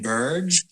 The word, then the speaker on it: Burge: with the pleasure today of talking with Ryan Burge I hope I'm pronouncing your last name correctly you got it